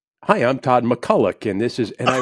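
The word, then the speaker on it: MacCulloch: McCullough's dad and iron he says you've been saying our name wrong the whole season I said what no I I say McCullough Todd McCully goes no no no he said it's McCulloch I said well sir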